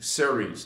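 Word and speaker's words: Cerez: We're going to be talking about the Ceres, but this is, it's been kind of like the 10th dimension, but and it's spelled C-E-R-E-Z, Ceres.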